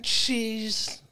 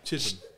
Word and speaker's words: Chisholm: Glen Cheese. Cheese. No. Chisholm. No. Glen Cheese. No. Cheese. I wrote it down. It's pronounced Chisholm.